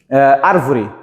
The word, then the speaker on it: árvore: é mais forte Beleza se eu falar a palavra árvore arvore arvore ar é mais forte proparoxítona é antepenúltima mais forte então quando a